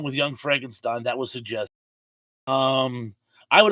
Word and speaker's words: Frankenstein: David said, it's pronounced Frankenstein.